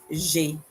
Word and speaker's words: j'ai: J'ai means I have, and it's pronounced j'ai.